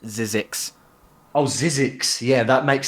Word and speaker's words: ZZYXX: It's pronounced Zizix.